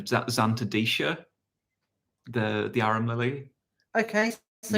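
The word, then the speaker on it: Zantedeschia: Oh, there's someone else that's saying Xanthodeschia instead of Xanthodecia, the arum lily.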